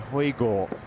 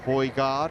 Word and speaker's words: Højgaard: Well, Alistair pronouncing it correctly there, Højgaard, but kind of getting messages from Nicolai that they want to go with Højgaard.